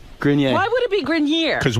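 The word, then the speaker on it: Grenier: Grinier is the right way to say it.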